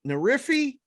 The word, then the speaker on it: Nerfy: say it correctly so imagine a nerf gun right nerf gun i know you know what that is and then just add a why the end of it nerf feed oh